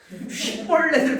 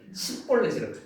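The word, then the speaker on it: שיבולת: 그래 가지고 볼 벌렛 쉬볼렛을 발음해 봐라. 벌렛을 발음해 봐라. 근데 이제이 강건도 사람들은 발음을 못 했다고 10볼렛이라.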